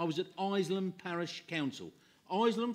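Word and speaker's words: Isleham: at iceland parish council islam for those that don't know is a that's how it's pronounced and b is a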